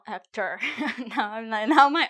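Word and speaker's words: Héctor: It's Hector, not Hector as Brad Pit called his enemy Hector. Okay. So now you remember if you meet a person say whose name is Hector. Hector, no Ector.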